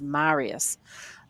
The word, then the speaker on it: Marius: told me about this it's Marius like the uh Italian Godfather some some film uh when he was giving me a pronunciation lesson so it's definitely Marius seven-year-old baby girl doing